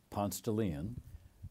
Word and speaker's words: Ponce de Leon: of Atlanta growing up in an apartment on Ponce de Leon the Ivanhoe you pronounce it correct yeah you pronounce it like